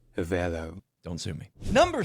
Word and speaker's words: Avelo: And also I mispronounced that. It's Avelo. My apologies. Avelo Airlines. Avelo.